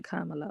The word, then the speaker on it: Kamala: don't have a choice you know I'm voting Kamala okay kamela has more experience than Trump trump